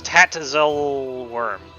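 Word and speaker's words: Tatzelwurm: It's Tatzel worm. I've seen it spelled with an e before.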